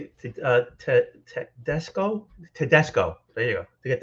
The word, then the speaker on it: Tedesco: Tedesco.